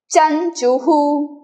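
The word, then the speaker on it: चञ्चुः: वक्र वक्र क्रुक चंचुहु विसर्ग will capture the sound of the last letter उ तो चंचू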